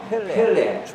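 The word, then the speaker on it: פֶּלֶא: 사람이요 그의 이름은 기묘자라 모사라 이렇게 했는데 기묘라고 하는 말은 히브리어 펠레 축구 선수 펠레하고 발음이 같습니다.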